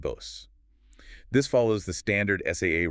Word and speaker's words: Bose: No, in both cases, it's a voiced Z sound. And notice the long vowel sounds, too. Levis and Bose.